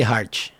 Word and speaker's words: Hart: Like the T will be ch, and like David will be David.